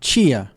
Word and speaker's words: tia: Tia. Tia. Tia. Chia. The Brazilian sounds j and ch result from palatalization.